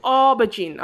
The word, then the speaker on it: aubergine: Number two, aubergine. Okay, dengar cakap macam mana how I pronounce that, class. Aubergine. Although it's A-U, tapi kamu pronounce O.